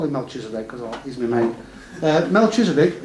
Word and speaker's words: Melchizedek: How do you pronounce that, Mark? Melchizedek.